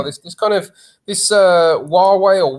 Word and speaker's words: Huawei: on right now this is kind of this Huawei or we where we should whichever we would pronounce it that that's that particular story is